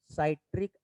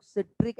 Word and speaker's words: citric: होगा वो होता है साइट्रिक एसिड। अब कुछ लोग साइट्रिक और कुछ लोग सिट्रिक एसिड पढ़ते हैं इसे, जो आपको अच्छा लगे, क्योंकि दोनों तरीके से इसका प्रोनाउंसिएशन है।